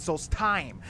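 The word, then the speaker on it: Solstheim: See, he pronounces it souls thyme, but a lot of characters in this in this uh DLC pronounce it souls time. I guess more the Nords or the skulls. They they they say the time, the hard time, but I'm gonna say soul thime.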